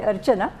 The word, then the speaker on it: Archana: It's actually Archana, but you are close.